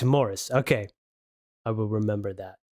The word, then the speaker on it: Maurice: M A U R I C E. Right. And of course, I'm Belgian and and you know, we all automatically go to the French pronunciation.